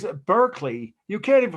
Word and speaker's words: Berkeley: berkeley and it's at berkeley you can't even pronounce the word it's barkley that's how they say the word berkeley in england so by the time